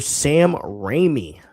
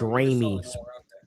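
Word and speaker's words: Raimi: So, you said his name wrong. Somebody Everybody make fun of him. Everybody make fun of him. He said his name wrong. Turn out. That skin is gas. And that that suit is gas. And you spelled his name wrong. I know. I know. I literally just looked at it. It's a I said his name wrong. It's Remy, dude.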